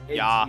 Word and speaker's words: Ja: Okay, I do want to say, you don't pronounce the J in German. It's pronounced as an H. Yeah. Or it's Ja. yeah. Yeah. Yes, yeah. It's yeah. Not an H.